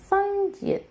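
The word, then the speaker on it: 쌍지읒: And we have our double consonant, sangjiet. Sangjiet is pronounced like a tensed J sound.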